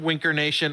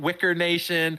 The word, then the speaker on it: Winker Nation: uh Winker Nation uh this time Winker Nation I'm going to say it right not wicker Nation not Winkler Nation like I screwed that